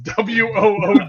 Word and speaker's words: water: And water ice is WOODER.